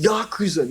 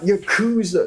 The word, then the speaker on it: Yakuza: And It's pronounced Yakuza, not Yakuza. Stop saying that, and Jab.